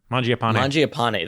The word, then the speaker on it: Mangiapane: And my next one here is Andrew Mangiapane. I think that's how you say it. Mangiapane.